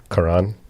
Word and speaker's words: Quran: Quran. That's a very anglicized way of saying it.